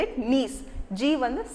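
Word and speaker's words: gneiss: third type of rock is we have to spell it nice g1 is silent so you have to say say it as n-e-i-s-s so nice g-n-e-i-s-s okay so now how this knees is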